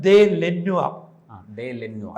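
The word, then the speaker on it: De Lannoy: സാധിക്കും കായംകുളത്തേക്ക് അതി ആരുടെ ഡിലനോയ ശരിക്കക് ഉച്ചാരണം ദേ ലെന്നുവല അതാണ് ഫ്രഞ്ച് ഉച്ചാരണം അദ്ദേഹത്തിന് നാട്ടുകാരിയായ ഒരു ഭാര്യ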